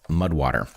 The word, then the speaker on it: MUD/WTR: All right, our first sponsor for this episode is Mudwater, which is spelled weirdly, as you know. Mudwater, that's MUD/WTR, makes fantastic products, including their